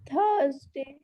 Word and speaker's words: Thursday: थर्सडे नहीं होता, ठ नहीं होता ठंडा वाला, थानेदार वाला थ होता है, थैंक यू वाला थ होता है। थर्सडे क्या होता है? बोलो। Thursday.